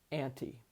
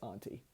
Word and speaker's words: anti: The word is anti, for anti-M. Note, I'm going to try to use the American pronunciation because it's an American fairy tale, but my usual pronunciation of that word is auntie. So, anti.